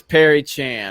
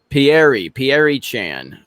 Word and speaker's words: Pierre Chan: There's Perry Chan or Perry Chan. I think is how you say it. It's Pierre. Pierre Chan.